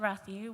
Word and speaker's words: Rathu: So as we all know, rat is short for Rathu, which incidentally rhymes with rat poo.